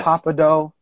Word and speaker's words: Pappadeaux: the name Thibodeau or Pappadeaux somewhere Creole yes and so I was like the fact that the X is not pronounced is kind of fly yes you see it but you don't say it it's like sin it's